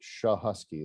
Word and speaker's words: Schachowski: get it right it's it's pronounced shah husky like sha sha and then husky like a dog that's easy yeah it